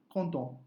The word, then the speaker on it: content: So in that case, you will not add the E, last O, and then you will not pronounce T. So it will be je suis content.